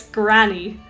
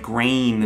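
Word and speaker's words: Gráinne: okay yeah okay well this person's name was grain i've heard americans say this granny i guess but the a.i for me is like grain like as if the n and e at the end don't need to be there like a grain of salt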